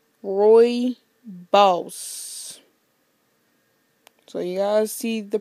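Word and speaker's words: rooibos: so yeah okay now to tell you how I know that um the how it's pronounced is right here okay right there Roy boss so you guys see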